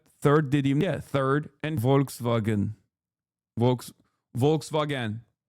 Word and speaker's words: Volkswagen: Volkswagen is how we say it in Turkish.